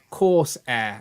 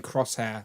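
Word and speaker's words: Coursair: Dan, who reviews it, is pronounced course like a class and air like you breathe. Course air. Okay, Ryan was right. I was saying crosshair like a crosshair.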